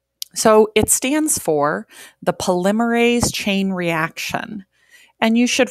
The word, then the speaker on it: polymerase: say for example so it stands for the polymerase chain reaction and you should write that down as well and pronounce it polymerase is the first word polymerase